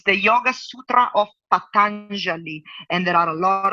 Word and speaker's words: Patanjali: I can't pronounce that last one. Patanjali, yeah, Patanjali.